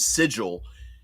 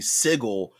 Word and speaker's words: Sigil: that says that if you mispronounce the name of sigil and mispronounce it because it's actually sigle they will try to